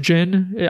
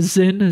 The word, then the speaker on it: Zin: game that it's pronounced jyn I used to call him the Zin z i n cuz that's how it's spelled he's from trolls in